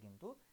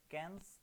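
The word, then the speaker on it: Cannes: Bohemian rhapsody তোমরা দেখে থাকবে, যে 2019-এ গোল্ডেন গ্লোব অ্যাওয়ার্ডে কিন্তু এই ছবিটা বেস্ট পুরস্কার পেয়েছে। আমাদের নেক্সট কোশ্চেন বলেছে কি, দ্য ক্যানস অ্যাওয়ার্ড, এটা কিন্তু ক্যানেস না, এটা হচ্ছে গিয়ে কান উচ্চারণ হয়, কান, কান অ্যাওয়ার্ড ফর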